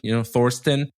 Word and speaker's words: Thorsten: past I said like, think of Thor. And then at Sten, Thorsten. And this week I realized, no, like people know how to pronounce Thomas in English. And it's just that with a different ending.